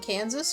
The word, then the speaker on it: Kansas: No, there's actually a reason that Arkansas and Kansas are named two different things. It's because one comes from a French pronunciation while the other comes from the native pronunciation of the word Kansas.